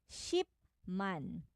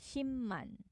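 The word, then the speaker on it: 십만: a pronunciation yes pronunciation when the final consonant p is followed by miu as the first sound in the subsequent syllable it is pronounced as meum syllable pronunciation so for example ship man ship is uh 100 000 shim man shim man so ang shipman and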